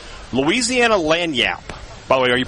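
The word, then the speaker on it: lagniappe: Louisiana lanyap. By the way, are you pretty excited that I knew how to pronounce that word?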